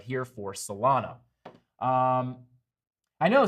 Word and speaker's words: Solana: So I'd watch these three levels right here for Solana. I know some people pronounce it Solano. I think CryptoFace says Solano, which makes me think I'm saying it wrong.